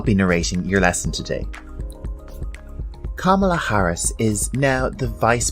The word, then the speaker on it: Kamala: career as she got to this new role Kamala Harris was born in Oakland California on the 20th of October 1964 a lot of people are having difficulty with pronouncing her name it's actually quite easy Kamala Kamala repeat after me Kamala Kamala her mother